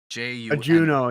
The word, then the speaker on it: Juno: like so you know it's actually it's just called you know right juno yeah juno sorry sorry so being